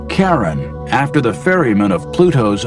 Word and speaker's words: Charon: Christie suggested the name Charon after the ferryman of Pluto's underworld in Greek mythology, but preferred to pronounce it Sharon, more like his wife's name, Charlene.